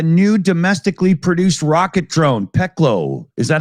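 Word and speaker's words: Пекло: The new domestically produced rocket drone, Peklo. Is that how it's pronounced? Peklo?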